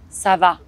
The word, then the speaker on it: ça va: you in french the hard part is the on make sure you open your mouth come on sava you can also say